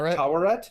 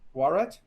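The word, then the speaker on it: Taweret: How do you pronounce that name? Tawaret. Yeah. Tawaret.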